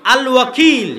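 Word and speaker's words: الوكيل: তো আল্লাহ বলছে আমি উকিল, আল ওয়াকিল, শুদ্ধ উচ্চারণ।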